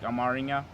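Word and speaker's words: አማርኛ: my fourth one was Amharic, and then we say it like Amaringa, and my fifth is English.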